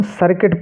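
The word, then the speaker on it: circuit: पढ़ेंगे बिल्ड ऐसे ही सी आई आर सी यू आई टी इसको हम सर्किट पढ़ेंगे क्या पढ़ेंगे सर्किट ऐसे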